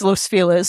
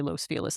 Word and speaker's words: Los Feliz: It's Los Feliz because we say it wrong.